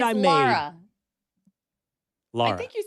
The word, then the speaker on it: Lara: The pronunciation of my name, I'm really not that concerned with. You've done a very nice job. I have never been offended by any way you've said it, but it's Lara for those Well, do you know wondering.